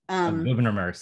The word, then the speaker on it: Gouverneur: Gouverneur Morris, sorry. My fault. Believe that's how you pronounce him.